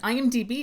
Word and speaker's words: IMDb: So I hope this helps someone out there in the world that might not be aware that they're actually pronouncing it incorrectly. And IMDb is considered the world's most popular source for film and TV.